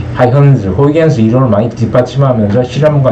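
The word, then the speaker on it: Huygens: 우리는 다 호이겐스라고 하는데, 이게 네덜란드 말이라서 이게 G가 H 발음으로 나요. 하이헌즈.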